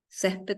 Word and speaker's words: césped: prohibido pisar el césped césped también se tilda por bueno es una palabra llana nu ente ses palabra